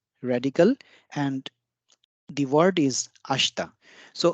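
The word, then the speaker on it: 明日: is the word for tomorrow and it is pronounced as ashta ashta and day after tomorrow again we have the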